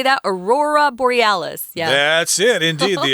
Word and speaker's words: aurora borealis: by the aurora how do you say that aurora borealis yes that's it indeed the aurora borealis but